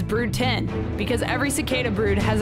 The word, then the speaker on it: Brood X: about brood x cicadas brute 10's pronunciation is brew 10 because every cicada brood